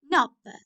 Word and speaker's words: knob: Knob. Knob. K is silent.